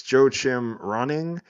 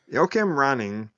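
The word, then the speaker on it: Joachim Rønning: I believe it's Joe Chim Running. He directed what's that? You said the name wrong. Whatever. Um, Yokim Roning. roning.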